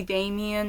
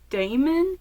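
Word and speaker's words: Damen: I keep wanting to say Damien, and in fact, in a lot of my notes, it is Damien. But it is Damon. There's no I.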